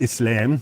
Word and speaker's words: Islam: you know I unfortunately I always end up pronouncing things like an American it's not Islam um it's Islam and it's not mus it's not Muslim it's Muslim and the two words are